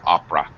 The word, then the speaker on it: opera: But yeah, here the entire syllable is dropped, so it sounds like opera.